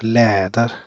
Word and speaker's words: läder: Läder, See, it emphasizes on ä, läder, ladder.